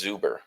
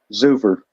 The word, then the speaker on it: Zuver: Oh, Jonas Zuber. Okay. Zuver.